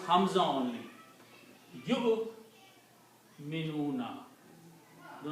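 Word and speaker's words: يُؤْمِنُونَ: You minuna. Do not pronounce wow. The waw is not pronounced because of the hamza.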